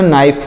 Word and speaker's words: knife: क्या पढ़ना है प्यारे मित्रों, देखिएगा ध्यान से, इसको कनाइफ नहीं पढ़ना है। क्या नहीं पढ़ना है, कनाइफ। इसको कनाइफ नहीं क्या पढ़ना है, यहाँ पर के जो लिखा गया साइलेंट है, तो इसे को नाइफ पढ़ेंगे।